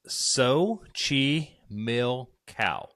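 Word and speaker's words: Xochimilco: um so I didn't really know how to pronounce this so I had to look it up but it's SOI Mill cow Mexico okay this is known as the island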